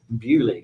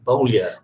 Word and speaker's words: Beaulieu: See, in this country, we pronounce it Beaulieu, which is a famous car museum and a stately home. But we were saying you think it's Creole, Beaulieu.